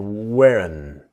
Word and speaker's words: weren't: to wasn't where not is weren't but of course the t is silent. Now this is the n sound the strong n the wearin.